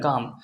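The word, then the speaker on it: calm: আপনার silent letter থাকে কাম সি এল এমন কাম এল সাইলেন্ট পাম পি এল এম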